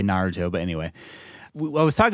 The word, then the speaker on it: Naruto: before you know the series uh Naruto just ended oh yes or Naro depending on how you say it I know I think the anime purists say Naruto but anyway I was